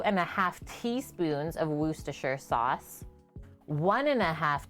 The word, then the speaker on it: Worcestershire: that's my full name it's pronounced worcestershire sauce not worchestershire like she's done a